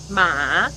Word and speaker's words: 马: exact same word, but depending on if the tone is up or flat or goes down at the end, then now the word is completely different. Right. So, how do you say mother? 妈. How do you ask a question? 妈. And how do you say horse? 马. Yeah, it's all ma, but depending on how the tone goes, it's very different things.